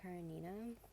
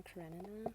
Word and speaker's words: Karenina: i never read it anna karanina or anna karenina however you want to pronounce it i wrote um